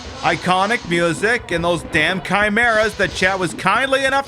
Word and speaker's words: chimera: me very bad naughty Chimera or as I pronounced it as a child a Chima cuz subtlety was lost on me